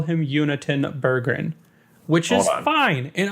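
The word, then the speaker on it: Jonatan: a clip over and in Swedish it sounds like his first name is pronounced unitenberg sorry wait yeah like Yoon y-o-o-n wait who are we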